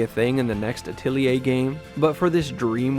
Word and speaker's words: atelier: like a workshop or a studio thus the pronunciation atelier even though people call it atlear or atelier i'm not saying say whatever you